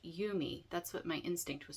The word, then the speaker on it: Yume: viewer comment that um it's actually pronounced you may it's a I think